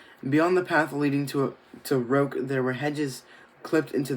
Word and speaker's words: roque: It's pronounced roke, Daddy was saying.